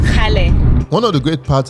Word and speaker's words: Kgale: Guys, I woke up this morning and we are headed to Kgale Hill. I don't think that's how they say it. How did they not say it? It's Kgale.